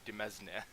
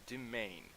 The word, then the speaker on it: demesne: French, and it's called domain. The S is silent, and somehow that's how that is pronounced.